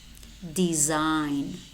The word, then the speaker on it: design: exotic exaggerated exaggerated and we also have letter words which contain the letter G but it is silent no rain diaphragm sign Nash matte design design campaign foreigner tongue resign when do we pronounce this and separately in separate syllables such as signal signature and resignation okay I will see